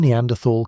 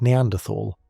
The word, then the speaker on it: Neanderthal: There are two common ways to pronounce the word Neanderthal. One uses a T sound, as in tall, and the other uses a th sound, as in think.